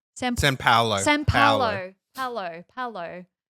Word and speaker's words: São Paulo: São Paulo. Am I saying it right? São Paulo.